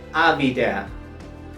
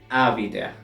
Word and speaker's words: habiter: Bien, en primera y segunda persona del plural hacemos una liaison porque esta palabra comienza con H muda.